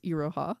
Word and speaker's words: Iroha: I should say I don't remember how you said her name, but you said it wrong. It's Iroha. Iroha?